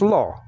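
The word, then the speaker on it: לא: And then you have a silent letter, aleph, right after that. So it's lo.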